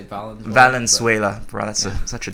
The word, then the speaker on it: Valenzuela: Did I pronounce that right? Valenzuela? I usually say Valenzuela.